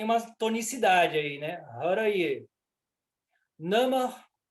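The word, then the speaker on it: नमः: Nama, mudo, esse H aí é mudo.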